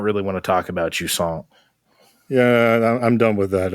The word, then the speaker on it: Jusant: well, not great, but Jusant, I guess, is the name of this game. Jusant. I like to say it like croissant, like very Jusant.